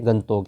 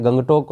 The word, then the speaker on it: गंगटोक: राजधानी वो क्या है गंतोक है वैसे गंगटोक हम बोलते हैं इसको गंगटोक बोला जाता है लेकिन इसका जो उच्चारण वो गंतोक होता है तो गंतोक या गंगटोक